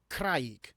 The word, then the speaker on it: craig: One of the only words in Welsh that actually rhymes with gwraig is craig, which is rock.